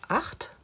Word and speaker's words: acht: It is pronounced acht.